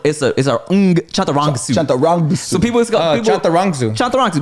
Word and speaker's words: Chantarangsu: So it's just like it's spelled. Can I try again? Yes. Just look at it. Look how it's spelled. It's just like that. But all the as are Oz.